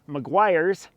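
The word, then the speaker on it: Meguiar's: those but I am going to take this Maguire's see I said it right this time Maguire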